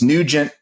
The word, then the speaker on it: Nugent: And maybe Ted Nugent, it's Nugent and it's Lee Greenwood, proud to be an American, arranged 7 different ways.